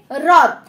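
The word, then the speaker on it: হ্রদ: হয়ের সাথে র ফলা দিলে কিন্তু র এর মতো উচ্চারণটা করতে হবে, হয় র ফলায় র দ রদ।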